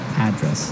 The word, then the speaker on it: address: live yeah and there the stress is on the first syllable address right perfect very good